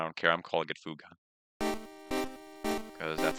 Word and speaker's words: Fuga: And then, of course, people already know my thoughts about Fuga. I love Fuga. It's pronounced. I think they said it's pronounced Fug, but I don't care. I'm calling it Fuga because that's how it's spelled.